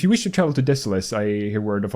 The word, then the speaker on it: Desolace: nests so deceleus oh i could never pronounce the name of it correctly when i was younger i didn't know uh desolace we i think me and my friends used to call it desolace but it's deceleus it is very desolate